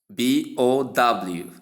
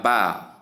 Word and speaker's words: bow: In the first pronunciation, we have bow, meaning to bend over, referring to bowing down. Or bow, meaning ribbon or weapon, that is the noun part. Whereas the first one is the verb.